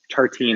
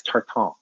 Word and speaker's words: tartine: i'm embarrassed now that a parisian heard me mispronounce tartine as tartan oh god it hurts